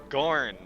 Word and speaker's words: Gorn: forgot his name gorn gorn brought us to rhymes with corn that's gorgeous is what